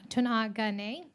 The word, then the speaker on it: Tuungane: We're going to be enjoying a short video from the Nature Conservancy, the Unga project, pronounced Tunagane. Thanks. Tunai. Tungane.